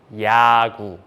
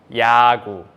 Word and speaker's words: 야구: If 이응 comes first in a syllable, it becomes silent. So, silent with vowel 야, 야, and the first consonant in the second syllable, 기역, with G sound, 그, and vowel 우, 그, 우, 구. So together it sounds 야구, 야구, which means baseball.